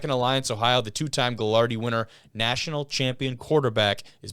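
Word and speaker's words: Gagliardi: The two-time Galardi winner, national champion quarterback is back on staff for the Purple Raiders. Galardi.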